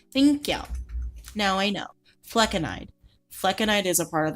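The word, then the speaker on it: flecainide: Fleckenide. Okay, fine. Thank you. Thank you. Now I know. Fleckenide.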